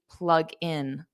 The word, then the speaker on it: plug in: So notice the pronunciation of plug in. If I say it like that, plug in, there creates a division between those two words. There's a pause, right? So what I do is I transfer that G, G, to the in, and I say plug in, plug in, gin, plug in. And then you say them as one word.